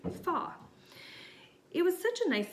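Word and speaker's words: 发: That's because the word for the number 8, ba, rhymes with the word for prosperity, fa.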